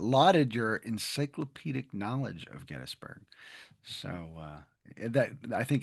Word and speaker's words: Gettysburg: But before we get into it, Chris, I just want to pronounce Gettsburg the correct way. I always have to say Gettysburg because that is how you say it.